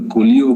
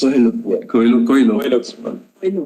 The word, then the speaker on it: Coelho: It arises out of the Colio case, which is expressly referred to. It arises out of? Colio case. Coelho.